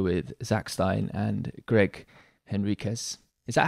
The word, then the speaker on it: Henriques: zack stein and greg henriquez is that how you pronounce your name greg i've heard it pronounced is that okay yeah yep it's like uh me and henry kiss all right well i